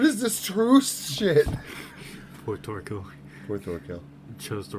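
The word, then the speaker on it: Thorkell: Thorkill. Get the K in there. Say that fucking K.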